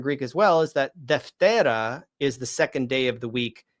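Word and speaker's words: δευτέρα: So I defteri imera, the second day, traditionally would have been pronounced I deftera imera, right? I deftera imera, because the alpha is long and it pulls the accent over to it.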